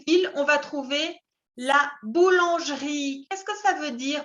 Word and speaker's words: boulangerie: On dit boulangerie. No se pronuncia la E. La primera E es muda.